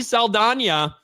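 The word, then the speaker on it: Saldaña: that was celebrating diversity Zoe Sala which we recently found out we're supposed to say her name like that I'm gonna say Zoe salana anyway becomes the first American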